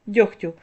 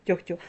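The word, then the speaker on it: дьогтю: кігті нігті легко вогко дьохтю Ви чуєте що я вимовляю х а не г хоча ми пишемо в цих словах г ось транскрипція цих слів кігті нігті легко вогко тьогтю також похідні нігтьовий легкий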